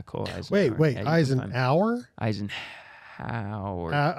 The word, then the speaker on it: Eisenhour: Cole Eisenhower. Yeah, Cole Eisenhower. Wait, yeah, Eisenhower? Eisenhower. It's spelled Eisenhower. I know, yeah. Yeah. Yeah. Eisenhower. Eisenhower. Yeah. Yeah, it's deceiving.